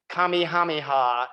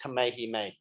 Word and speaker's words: Kamehameha: union on hawaii that i still mispronounced the name of the great hawaiian king kami hamiha instead of properly as kamehameha miss mcgill stated that